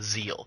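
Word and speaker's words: Ziel: use now, the the the furry race is called a zeal. It's spelled Z I E L.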